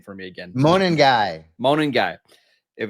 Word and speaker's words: Monangai: Please pronounce the last name for me again. Monangai.